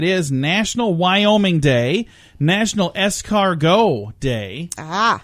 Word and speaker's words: escargot: national Wyoming day national escargot day ah although it's spelled eschar --get yes it is it's escargot national scavenger hunt day